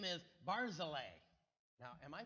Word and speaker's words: Barzillai: I always pronounce that guy's name Barzillai. Are any of you familiar? You've read this name in the past? Barzillai is how I pronounce it. But then I saw one of the pronunciation guides that said Barzillai. So I've been calling him Barzillai.